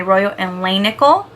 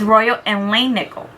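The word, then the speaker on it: Royal and Langnickel: for today I'm do I'm going to be using my Royal and Lan nickel I've been saying it wrong you guys and I had the opportunity I got the opportunity to do a video with them and I can't wait until it's released and I can show it to you guys it's really nice and exciting so they told me I've been saying it wrong so it's Royal and Lane nickel so yeah so I'm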